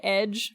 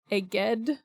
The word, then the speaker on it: Eged: The other kind of major city of note is, I keep wanting to call it Edge because of mixing up letters, but that's not what it is. It's Eged. It I agree, it looks like Edge, though.